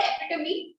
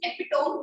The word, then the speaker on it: epitome: Moving on, Toastmaster Sakshi used the word epitome. which was the right pronunciation. I see a lot of people use epitome, which is the incorrect pronunciation.